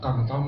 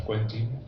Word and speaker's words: Quentin: estaba trabajando en Millesou, nos dijo, es Quentin Millesou. Nosotros decíamos Quentin, quizá influidos por Tarantino, ¿no? Sí, pero al ser francés tiene una pronunciación distinta.